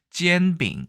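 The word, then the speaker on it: 煎饼: 중국 에서 는 그것 을 ' 젠빙 ' 이라 고 부릅니다 .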